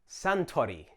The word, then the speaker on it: Suntory: Suntory. Notice the difference in the vowel sounds, sun versus san.